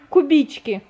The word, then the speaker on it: Кубички: Кубички называется. Ударение на и.